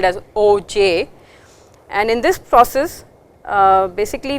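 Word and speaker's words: Auger: So, that brings us to the next recombination mechanism, and this is called OJ recombination. The R is silent and it is spelled as OJ, and in this process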